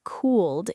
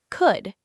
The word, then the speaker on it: could: The letter L is completely quiet. It's silent. Don't say cooled, it's just could. It rhymes with good.